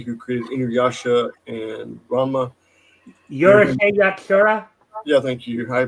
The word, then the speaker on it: Urusei Yatsura: I butchered this so bad. Yurishi Yatashi, the original first animated series that the wonderful lady who created Inuyasha and Ranma. Yurusei Yatsura?